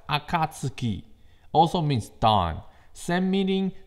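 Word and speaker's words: 暁: What I have on the Spark is actually a Japanese kanji pronounced Akatsuki, also means dawn.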